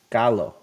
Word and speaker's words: Gallo: It's Galo. Galo? gallo? Galo. Accent Okay, on the low. accent on the low.